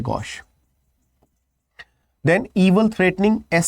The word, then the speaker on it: gauche: ठीक है, ऑकवर्ड होना मतलब GAUCHE, गॉश, हमने अभी देखा था इसका प्रोनाउंसिएशन। ठीक है ना, देन ऑकवर्ड, अब ये अच्छा दोबारा से आ गया, सेम वर्ड है गॉश।